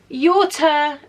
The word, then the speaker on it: Yota: Yota is, I say Yota. For me, naturally, it would be to say Yoda, but that's how I would pronounce it in Greek. But everybody calls her Yota, so I'm going to go with Yota.